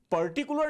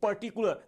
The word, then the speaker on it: particular: सबसे पहले इस वर्ड का राइट प्रोनाउंसिएशन पर्टिकुलर नहीं, क्या बोलेंगे? पर्टिकुलर। मेरे साथ प्रैक्टिस करिएगा, बोलिए क्या बोलेंगे? पर्टिकुलर। ब्रिटिश लैंग्वेज में आर वर्ड को हम साइलेंट रखते हैं।